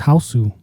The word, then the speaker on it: Hausu: House. No, it's House. Yeah, but in Japanese it's Hausu.